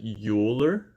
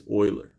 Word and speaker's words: Euler: name here is concealer like the way it's pronounced if you called it you older then people know that you don't really know math right okay names Euler name is boiler okay boiler and the formula goes like this